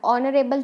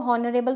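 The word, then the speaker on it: honourable: अब ऑनरेबल जो है इसको हॉनरेबल तो बोलते नहीं है, ठीक है. इसकी प्रोनाउंसिएशन ओ से ही स्टार्ट होती है, तो ओ क्या है? एक वॉवल है, दैट्स वाई एन.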